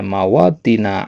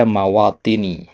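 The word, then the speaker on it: مَوَاطِنِ: Tapi kalau seandainya kalau antum kayak tadi bacanya mawatina adidatin itu benar, ya. Itu juga dianggap benar, ya. Cuman kalau dari sisi makna ini seharusnya dibaca mawatini, ya.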